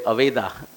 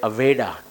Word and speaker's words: Aveda: name of it aa Even we don't say Aveda, we say Aveda because Americans say that way.